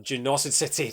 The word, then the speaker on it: Genocide City: Genocide City, pronounced Genocid City, just like Hydrocity. Genocity City.